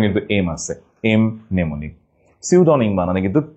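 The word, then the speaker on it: pseudonym: So tsunami, টি tsunami, pneumonia, P pneumonia, psychology, P psychology, pneumonic, M pneumonic এবং সিউডনিমে পি সিউডনিম।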